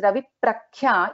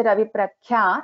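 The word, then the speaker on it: रविप्रख्या: But here in this case, Ravi Prakhya, if we do not pronounce it properly, it becomes very obvious that we are not chanting the Ditvam correctly. So if I say Ravi Prakhya, it doesn't sound well.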